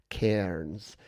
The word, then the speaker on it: Cairns: Cairns. But we don't pronounce the R because we don't pronounce the R in much.